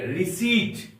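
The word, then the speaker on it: receipt: में पढ़ेंगे हम लोग के रिसी आर ई सी ई आई पी टी इसमें पी साइलेंट है इसको हम लोग पढ़ेंगे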